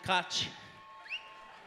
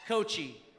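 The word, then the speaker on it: Kotche: There's Glenn Cochi. Some people call him Koch. Glenn Koch. People mispronounce his name regularly. In fact, I've never heard it pronounced correctly. It's Cochi.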